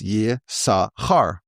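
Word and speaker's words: Yissachar: And if you spell the word Yisachar, if you just say the word, it's Yisachar. But if you see how it's spelled, it's Yis-Sachar, which can be spelled as Yesh-Sachar, which means there is the same word.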